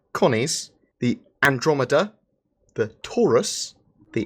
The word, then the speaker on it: Taurus: Connie's the Andromeda the Taurus the rhymes with porous it does rhyme with porous and the one that